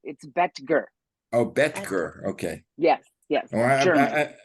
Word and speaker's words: Boetger: It's Boetger. Boetger. Yes. I said it wrong. Okay. How do you spell it? No worries. Boetger. So the O is silent. It's Boetger.